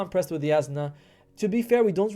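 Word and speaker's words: Jasnah: I always pronounce it Jasna, but I was like, it's a J, right? It's a J. And people are like, no, it's Yasna.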